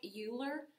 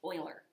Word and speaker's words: Euler: something brand new it's called it looks like euler but his name is pronounced euler so i get to show you euler's method